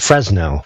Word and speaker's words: Fresnel: Spelled Fresnel, but pronounced Fresnel because it's French and frou-frou.